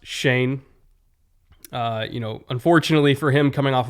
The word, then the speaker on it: Schoen: I know it's spelled like Schoen, but it's pronounced Shane.